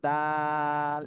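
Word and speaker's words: دال: আর এরপরে যেটা পড়বো সেটা হলো দাল এই যে দাল এটাও কিন্তু একই জায়গা থেকে জিহ্বার আগা সামনের উপরে দুই দাঁতের গোড়ার সাথে লাগিয়ে দাল উচ্চারণ হয় তিন আলিফ টান দিতে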